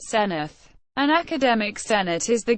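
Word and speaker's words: Senedd: Wales debating chamber is called the Senate pronounced senith an academic Senate is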